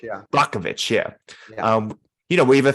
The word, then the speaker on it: Brockovich: And I think you don't have Erin Brockovich's, that's how you pronounce her name, Brockovich? Yeah. Brockovich, yeah.